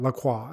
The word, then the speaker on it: La Croix: I would love your thoughts on carbonated water like La Croix, bubbly, or Perrier. You have to say it like that, La Croix. It can't be LaCroix.